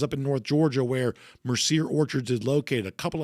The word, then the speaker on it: Mercier: It's pronounced Mercier.